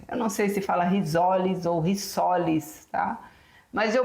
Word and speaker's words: risoles: conhecimento da língua portuguesa, quando você tem um S entre duas vogais, ele é pronunciado como Z, não é isso? Então é risoles, não é risoles, tá? Rissoles teria que ser com dois S.